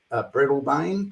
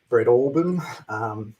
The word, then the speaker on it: Breadalbane: There's a place outside Launceston that sounds like Breadalbane, but it's pronounced Breadalbane. It really is.